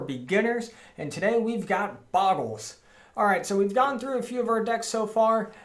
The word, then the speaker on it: Bogle: So it is called Bogles, but the namesake creature is actually pronounced Bogle.